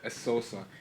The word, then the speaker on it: Essosa: Oh, I said Essosa.